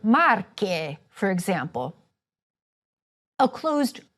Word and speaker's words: Marche: Sometimes "e"s or "o"s will be open or closed: a closed "e" in Veneto and an open "e" for Marche for example.